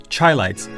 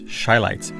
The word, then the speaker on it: Shylights: I've always called them Chylights, when in fact is Shylights.